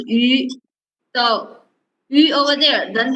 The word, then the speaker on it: yu: Circle your mouse and read again. Okay. You. Circle your lips more. Put your tongue straight inside your mouth.